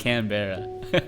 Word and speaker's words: Canberra: It looks like it's pronounced Canberra. Canberra. Okay. I didn't know that. I accept no blame for that. That's entirely on the spelling. If there was one R, I think I would have pronounced it Canberra.